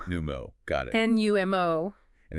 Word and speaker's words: Numo: It's pronounced Numo. Numo, got it.